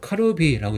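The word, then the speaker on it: カルビー: 일단이 해사명 이거는 어떻게 있냐면 카루비라고 있습니다.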